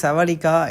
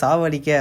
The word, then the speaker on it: Sawadeeka: First single செவடிக்கா, இந்த சாங்கை பொறுத்த வரைக்கும் நம்ம ஆல்ரெடி சொல்லியிருந்தோம் இந்த லிரிக்ஸில் தான் சாங் ரிலீஸ் ஆக போகுதுன்னு. நிறைய பேர் சாவடிக்க அப்படின்ற மாதிரி ப்ரொனவுன்ஸ் பண்ணாங்க. அப்படிலாம் இல்லை, செவடிக்கா அப்படின்னா ஹலோ அப்படின்றது தான் மீனிங்கு.